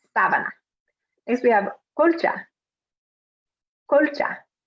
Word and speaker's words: sábana: Sábana. Sábana. Sheet. And remember that stress on the A, the first A. So not sabana, but sábana.